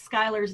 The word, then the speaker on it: Schuyler: huge park that the skyler family donated so it's spelled so not like how you would think okay that's why but it is s-c-h-u-y-l-e-r was how elizabeth skyler's name was spelled and that is that